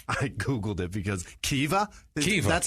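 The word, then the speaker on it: Caoimhe: There's a V in there. Yeah, it's like uh what was it? So C A O C A O I M H burn is pronounced I googled it because Kea that's how you pronounce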